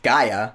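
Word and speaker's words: G'iah: we learned that Taylor's daughter whose name is pronounced Gaia played by Emilia Clarke yeah she took the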